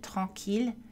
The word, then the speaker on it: tranquilles: Attention aux exceptions. Mille villes tranquilles et à leur dérivée prononcée avec la consonne L.